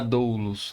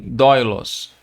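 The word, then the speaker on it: δοῦλος: assim representar essa pronúncia Você não vai falar doulus né e sim dói-los então Você tem uma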